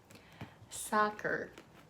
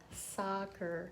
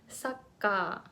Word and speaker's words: soccer: of hard to pronounce soccer soccer so this is actually tricky for Japanese speakers so it depends on